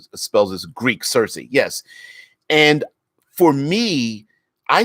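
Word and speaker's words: Circe: So in I believe it's Greek or Roman mythology, there was a person named Cersei, not spelled the same way her name is, but pronounced the same way.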